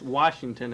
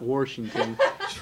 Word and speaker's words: Washington: often here at school it's washington and not washington washington okay and let's see what's the spelling for that w-a-s-h right there's no r okay washington when people from washington could you just start